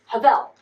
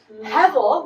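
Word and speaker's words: הבל: So Abel's name is actually not Abel, it's Havel, which if you have taken Ecclesiastes, Hevel, which is how I pronounce it in my poor English tongue, means what?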